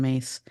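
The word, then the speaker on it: Myss: say I love Carolyn mace um and for our listeners if you're not familiar with her we'll put her name in the show notes but her last name is spelled my y SS yeah now I found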